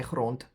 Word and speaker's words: grond: grot grot grou grond We say grond. We pronounce it as a t.